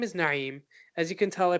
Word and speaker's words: Naim: roots now I'll say so my name is Naeem as you can tell I pronounce my name Naeem no 9 yeah meme in Arabic Arabic alphabets